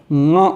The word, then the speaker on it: ङ: तो इसको आज के बाद अंग या व या अणों के बदले आप ङ उच्चारण करेंगे, ङ।